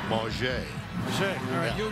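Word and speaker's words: Mauger: to see Quincy Bunker he asked this year that you pronounce it the French Way ma che you'll be in charge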